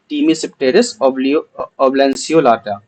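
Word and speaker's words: Tmesipteris oblanceolata: इसका नाम थोड़ा टफ है, लेकिन ठीक है, इसको ऐसे प्रोनाउंस करते हैं, टीमीसिप्टेरिस ओब्लैंसियोलाटा।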